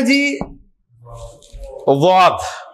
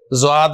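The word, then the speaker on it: ضاد: कोई इसे ज़्वाद बोलता है, कोई इसे दुआद बोलता है। इसकी प्रोनाउंसिएशन बड़ी दरमियानी सी है, बहुत मुश्किल है कि जुबान के जो 2 सिरे हैं ना आखिरी, वो जाके दाढ़ों के पीछे जाके लगते हैं तो ये लेटर निकलता है।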